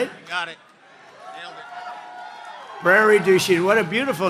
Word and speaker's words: Prairie du Chien: So we're here today in Prairie du Chien. Is that a good pronunciation?